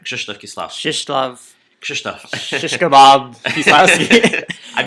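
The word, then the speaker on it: Krzysztof Kieślowski: Krzysztof Kieslowski.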